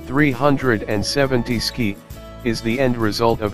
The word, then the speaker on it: 370Zki: the three seven zero ZK I pronounced 370 ski is the end result